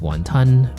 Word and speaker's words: 雲吞: In Cantonese, it's pronounced wàhn tān Which roughly translates to "swallowing a cloud".